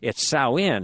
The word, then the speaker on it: Samhain: So I don't know why they spell it that way, but it's Samhain.